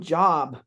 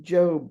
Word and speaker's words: Job: They call him Job with a short O sound rather than Job with a long O sound.